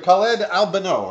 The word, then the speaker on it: Khaled Albano: Right here, Khaled Albano, right? Yes. Yeah. I said it right.